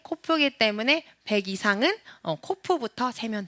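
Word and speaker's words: קוף: 한 번 더 코프. 네, 이 코프는 어떤 사람들은 쿠프라고 발음하는 사람도 있어요. 쿠프. 네, 코프. 근데 저는 코프라고 하겠습니다.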